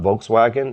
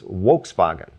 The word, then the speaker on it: Volkswagen: V and W um have a very similar sound phonetically. In German, it's not Volkswagen, it's Volkswagen, right?